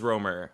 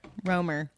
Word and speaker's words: Romer: the Romer it was Roamer okay Roamer I knew it was strange because I was like well they roam so use that as like a mnemonic device and like remember their